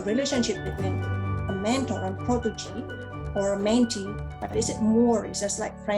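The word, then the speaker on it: protégé: So protege, that's the way how to pronounce it.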